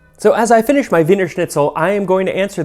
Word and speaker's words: Wiener Schnitzel: After a while, they dropped the Der and just kept the Wiener Schnitzel, obviously not pronouncing it Wiener Schnitzel as in German, but Wiener Schnitzel as in Wiener Schnitzel.